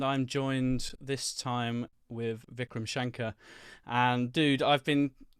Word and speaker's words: Vikram Shankar: You can, hey, I'm Vikram Shankar. Oh, yeah, that's definitely how I should be pronouncing it. The irony is that's actually still wrong because it's actually Really? Vikram Shankar.